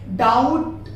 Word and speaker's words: doubt: दूसरा यहाँ पर इसका कंडीशन आता है कि जब कभी भी आपको टी से पहले बी मिले, लेटर टी से पहले बी मिले तो आप उसे भी बी को साइलेंट कर दीजिए उस कंडीशन में भी। जैसे DE, बेटी, डेप्थ पढ़ेंगे, यहाँ पर डेप्थ नहीं पढ़ा जाता है। डाउट, DOUBT, डाउट, देखिए टी के पहले बी आया है, यहाँ पर डाउट हो जाएगा, डाउबट नहीं होगा।